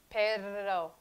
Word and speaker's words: perro: So don't substitute the inability to roll your R's with the R of English. Substitute it with the soft they of Spanish. The. Perro. Perro. Okay? Perro, perro, perro, woof, woof, perro.